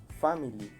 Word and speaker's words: family: Family, tiene 3, se van a pronunciar lógicamente 2.